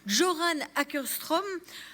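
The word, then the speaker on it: Göran Åkerström: Je vais maintenant laisser la parole à Monsieur Joran, il m'a dit il m'a donné la prononciation en suédois, Joran Ackerström.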